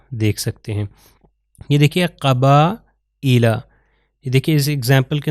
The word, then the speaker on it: قبائل: ہیں وہ ہے کسرہ، تو حمزہ کے نیچے یہ کسرہ آ گیا تو اس کے تلفظ ہے قبائل، قبائل۔ تو یہ یا جو ہے لکھا جا رہا ہے مگر پروناؤنس نہیں ہو رہا، کیونکہ سائلنٹ لیٹرز میں